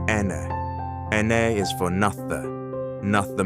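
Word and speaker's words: enne: N, pronounce Ene.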